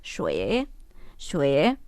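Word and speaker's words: 水: Cómo se dice entonces agua agua se dice xue xue y si quiero agua caliente es re re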